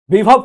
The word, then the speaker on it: বিভব: বিভব কুমার বা বৈভব কুমার। এই বিভব কুমার বা বৈভব কুমার, অ্যাকচুয়ালি আমরা বাংলায় বৈভবই বলবো, কিন্তু এই উচ্চারণ হচ্ছে বিভব কুমার হিন্দিতে।